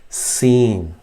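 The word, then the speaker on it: سين: But in seen, you say, you keep your teeth together, clenched together, seen, and a whistling sound will come out. So in this diagram, these front teeth will join, and you just say s, seen.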